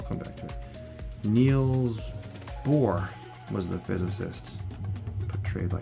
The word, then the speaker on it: Bohr: Neil's bore was the physicist portrayed by Kenneth Bra on Alen. So, bore is spelled B O H R and sword becomes wrong.